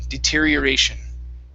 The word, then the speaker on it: deterioration: big word here okay instead of deterioration it's deterioration deterioration deter deterioration one more